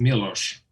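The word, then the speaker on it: Miloš: It's pronounced Milos.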